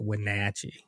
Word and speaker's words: Wenatchee: Wenatchee, I think they say it like Wenatchee, actually.